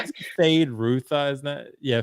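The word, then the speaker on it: Feyd-Rautha: as the Austin Butler character that we can't pronounce the name of. Yeah, we are Fade Ruth, isn't that? Yeah, Fade Ruth Harkin.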